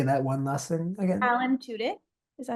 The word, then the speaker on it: Alan Tudyk: Alan Tudyk.